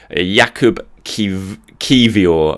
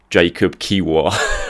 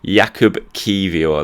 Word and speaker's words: Kiwior: It is Jakub Kiwior. That is how you spell it. Jakub Kiwior. That's how you pronounce it, sorry, apparently. When you look at it on paper, I'd probably say it Jakub Kiwior, but it's not. Jakub Kiwior, that's how you pronounce it, or is supposed to pronounce it.